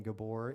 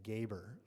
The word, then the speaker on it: Gaber: So if Aislinn Bossard, Tyler Chapman, and or Gabor is here, please join me up here at the podium. Everyone can clap for them. Did I say that right? Correction, it's Gaber.